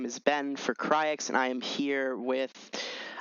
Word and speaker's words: rXis: But I think for me, I'll say it as rXis, like the word axis and an R in front.